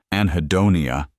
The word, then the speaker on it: anhedonia: Anhedonia.